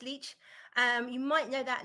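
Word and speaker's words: Leitch: I think it's pronounced leech Elite Beach um l-e-i-t-c-h I think it's pronounced leech um you might know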